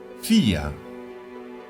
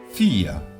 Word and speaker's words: vier: Vier. Vier. La V en alemán se pronuncia como una F.